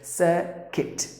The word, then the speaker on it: circuit: But here, the letter U is silent. You have to pronounce the word as circuit. But usually people would say the circuit. Look at the difference. Circuit, circuit. Circuit, circuit.